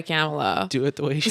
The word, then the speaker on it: Kamala: camelot will cringe and i want to say kamala but that's not how she pronounces her name she goes by kamela do it the way